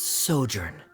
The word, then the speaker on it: sojourn: everything clear uh director's osimos how do you pronounce this word let me see Ah that's sojourn it means to stay for a while this